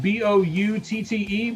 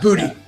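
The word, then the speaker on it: Boutte: I know it's spelled B O U TTE, but it's not pronounced the way it looks, right? Bout. Bouty, I think. Yeah, we we'll go with that. Um, bout, not booty.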